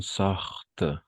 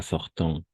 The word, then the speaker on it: sortent: Ah, ici encore, les gens sortent. D'accord? Pas sortant. Les gens sortent. Ils veulent. Et les chanteurs s'attardent. O sea, ENT va a ser mudo.